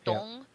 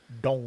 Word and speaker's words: Donghua: D-O-N-G, and the O has like a line over it, so it's Dong. Donghua.